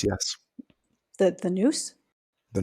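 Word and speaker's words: nous: which God can express itself as us the Noose yes the The Noose The Noose The Eye Of the Soul spell that n o u s oh okay I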